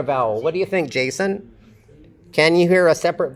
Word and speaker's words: Jason: It starts with an affricate, a voiced affricate, and Jason. The stress is on the first syllable. Jason. So the second syllable is unstressed, and we have a schwa there.